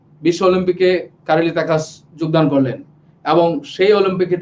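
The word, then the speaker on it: Károly Takács: ঠিক আছে, কারেলি তাকাস, ঠিক আছে, কারোলি কাতাস না, কারোলি তাকাস হবে উচ্চারণ, হাঙ্গেরিয়ান প্রনাউন্সিয়েশন।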